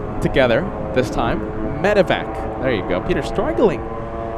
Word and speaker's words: medevac: This is a medvac flight. And let's all say it correctly together this time. Medevac.